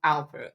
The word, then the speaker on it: Alper: to start something new today we're talking to Alper co-founder and CEO of triply aler how are you doing did I pronounce that right yeah yeah excellent perfect thank